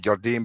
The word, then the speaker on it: Jardim: Did I get his yeah, name wrong? Jardim, yeah, Leonardo Jardim.